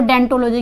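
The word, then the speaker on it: odontology: अब ये डेंटोलॉजी क्या होता है, देखिए लिखा जाता है ओडोंटोलॉजी, लेकिन पढ़ते हम इसको डेंटोलॉजी, क्योंकि ओ क्या होता है, वो साइलेंट होता है।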